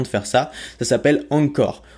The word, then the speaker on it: Anchor: te permet précisément de faire ça ça s'appelle angcore angcore ça s'écrit a n C H o r al